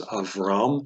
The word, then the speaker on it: Avram: Abraham whose name was avram in Hebrew you'd say so it's not of um the stress is on what they'd say the tonic syllable gets the stress of ram last syllable and you get a